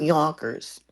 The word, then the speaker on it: Yonkers: that mean yers yon it's pronounced Yonkers y you need a bigger nose to say it and you also need